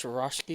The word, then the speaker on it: Swarovski: Yes, Swarovski. Swarovski. Yes, thank you so much. Yes, and I agree with you. Is it almost like the crystal? The Swarovski's crystal, like a scope? I don't. Swarovski?